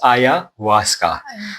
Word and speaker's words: ayahuasca: all the different types, but I have tried ayahuasca. It's pronounced ayahuasca.